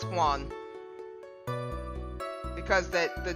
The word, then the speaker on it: Juan: supposed to be pronounced I know the J is silent and it's supposed to sound like a h like I believe right